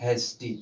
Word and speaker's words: HASTY: तो इसको पढ़ते हैं हेस्टी। ठीक है, समझिएगा। तो इस प्रकार से वाई का उच्चारण बड़ा ई किया जाता है।